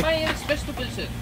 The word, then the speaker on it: Bæjarins Beztu Pylsur: Bæjarins Beztu Pylsur.